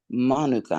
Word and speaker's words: Manuka: from New Zealand, and people in New Zealand call it Manuka honey. And so I named her Queen Monica, so it would remind me to pronounce the name Manuka the way they pronounce it in New Zealand.